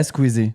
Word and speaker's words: Squeezie: Squeezie. Am I saying it right? Yeah, Squeezie. Okay.